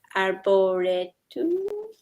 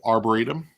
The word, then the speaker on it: Arboretum: three for you number three um I always mispronounce this are bored too oh Arboretum yeah I think that Arboretum is so beautiful